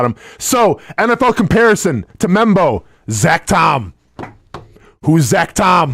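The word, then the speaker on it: Membou: and that Big Hoss is Armen how you pronounce his last name membo membo okay easy enough looks lot harder than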